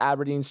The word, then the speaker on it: Abrdn: The poster child was Abrdn, pronounced Aberdeen, but written like a CAPTCHA code with no E's, who during that time